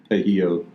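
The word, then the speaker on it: pollo: That's actually, don't pronounce the L. Pejio.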